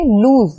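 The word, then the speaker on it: lose: यहां पे हम देखेंगे उच्चारण की दृष्टि से लूज यानी खोना और लूज यानी ढला एक समान नहीं है अर्थ भी एकदम भिन्न है तो यहां पे एल ओ एस लूज का मतलब होता है खोना और L double O एसई लूस का मतलब होता है ढीला तो इसका ना ही स्पेलिंग एक जैसा है ना ही उच्चारण एक जैसा है लेकिन लोग इन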